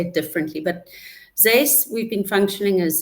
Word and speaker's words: XACE: I always think the pronunciation once oneoff is it's Zace, but that's an X. So people easily uh say say it differently, but Zace we've been functioning as Z uh UK for nearly 5 years.